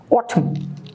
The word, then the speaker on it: Autumn: Autumn, N silent. Let's move to page 106.